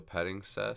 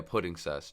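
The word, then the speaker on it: Puddingcess: And then he's going to overlay into the Petting Cess. Is that how you pronounce that? No, yeah, Pudding Cess.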